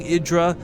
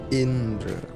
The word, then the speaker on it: Indra: his name quickly sometimes I'm not saying idra this is not idra it's not the player from Evil Geniuses is a Korean player yeah Indra I know and if